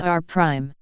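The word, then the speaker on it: R′: second upward deflection is referred to as are pronounced r-prime this would be described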